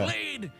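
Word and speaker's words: χ-blade: X-Blade. It's just pronounced like Keyblade, even though it's just one Keyblade.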